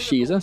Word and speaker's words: Shiza: Queen Shiza has told me how to pronounce her name correctly, which is Shiza, so thank you very much for all your help, Shiza.